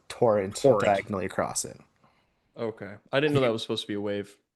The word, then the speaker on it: Torrent: the, drumroll please, Seattle Torrent. How are we feeling about the new name? The way that you say torrent makes me uncomfortable. Yeah. You put the emphasis on the wrong syllable.